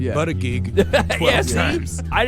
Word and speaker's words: Buttigieg: So anyway, Wait, is that how you pronounce that guy's last name? yeah. Yeah. Yeah. Buttigieg? Yeah, did you think it was butt gig?